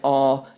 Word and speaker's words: awe: by just apologizing for my Southern accent which wants to make awe two syllables it's one syllable and when I get it as one syllable it sounds more like a grunt than a than an actual word but that's why awesome